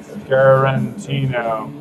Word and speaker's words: Scarantino: Scarantino. Scarantino. Like, Tarantino, but Scarantino.